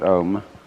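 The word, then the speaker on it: ॐ: have a gong actually the word om is spelled out in sanskrit ah um and thus comprises the whole range of sound from the back of the throat to the lips it is therefore called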